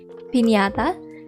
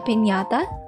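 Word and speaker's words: piñata: is pandesama's pinata so i hope i pronounced that correctly because it's how we pronounce it in the philippines pinata yes and he's just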